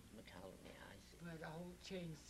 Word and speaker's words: McCallany: And the second name was his late father's name, McCallany. McCallany, I see. But Holt changed the spelling to try to help people pronounce it. Uh-huh. It's M-C, and then a large C, A-L-L, McCallany, A-N-Y.